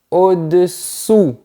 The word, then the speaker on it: au-dessous: Quand c'est en bas, on dit au-dessous. On termine avec la langue en position arrière au-dessous.